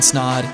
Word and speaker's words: Snaadt: My name is Snaadt. It Rhymes with Odd, and we'll check you in the next episode.